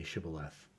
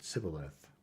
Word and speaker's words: Shibboleth: to let none pass who could not say Shibboleth. The Ephraimites, being of a different tribe, could not frame to pronounce the word right, but called it Sibboleth, which proved them enemies and cost them their